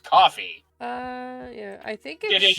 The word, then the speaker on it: Ko-fi: I think it's supposed to be pronounced coffee.